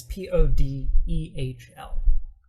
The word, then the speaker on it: Podehl: Yeah, I would go Nick Podell. It's Podehl. I was like, where are you seeing that at?